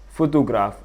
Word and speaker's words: photograph: The correct answer is photograph with the primary stress on the first syllable.